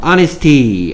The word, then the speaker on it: honesty: 그리고 조심해야 될 건 honesty, 뭐 honest, h가 소리 안 나기 때문에 뭐 honesty가 아니고 honesty, honest라는 것도 알아두시기 바랍니다.